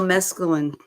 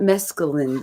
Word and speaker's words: mesclun: That's It's not mescaline though. That's sounds like some kind of drug.